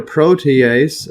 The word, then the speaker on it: protease: So basically precursors to hormones and yes so note here protease this right here pronunciation protease.